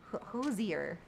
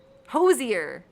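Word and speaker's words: Hozier: Hoser hosier.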